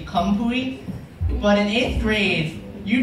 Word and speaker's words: Khamphouy: that in eighth grade because it's pronounced actually kampui but in eighth grade